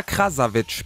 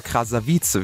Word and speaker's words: Krasavice: Und die YouTuberin Katja Krasavic, beziehungsweise Katja Krasavice, wie sie, glaube ich, ausgesprochen wird, soll auch auf Snapchat derartige Bilder gefordert haben.